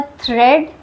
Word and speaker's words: थ्रेड: ए is silent in the combination of ई ए। अगर इ ए साथ में रहेगा कहीं भी रहे इ ए अगर साथ में रहेगा तो भी ए साइलेंट होगा। ए का उच्चारण हम लोग नहीं करेंगे। For example थ्रेड bread. थ्रेड में हम लोग केवल ई का उच्चारण कर रहे हैं। थ्रेड।